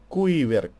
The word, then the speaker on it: Quiver: Ну, как Quake, только Quiver. Колчан. Вот и все. Да, именно так это и читается; Quiver — это рабочее название игры.